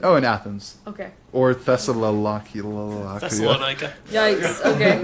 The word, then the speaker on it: Thessaloniki: Or Thessalonica. Thessalonica. Yikes. Okay. Thessaloniki.